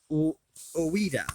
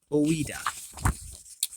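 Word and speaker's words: Ouida: That is by Oida, I believe it's pronounced. Oida.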